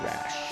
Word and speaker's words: Rash: So Rash is how you say their last name.